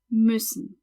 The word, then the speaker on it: müssen: That U with the dots is another umlaut and is pronounced Ü. Ü, müssen.